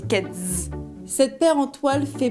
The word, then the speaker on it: Keds: Ça s'écrit avec un "s", mais ça se dit "ked'z".